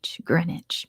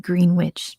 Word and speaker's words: Greenwich: Greenwich I'll take that at Greenwich yes Greenwich it's spelled g-r-e-e-n-w-i-c-h Greenwich but it's it's spelled like Greenwich but it's pronounced Greenwich so we'll give that to orgill good job